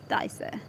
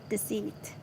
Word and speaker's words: deceit: Dissect is dissect. Deceit. Yeah, it's deceit. Not dissect, deceit.